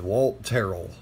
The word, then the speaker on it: Walt Terrell: And yes, that is how it's said, Walt Terrel.